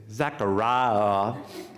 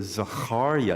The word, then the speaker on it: Zechariah: Deep Cell you say Zachariah that sounds nice and fun to Southern but if you say his name in Hebrew Zechariah you say oh that sounds different and it's the Hardy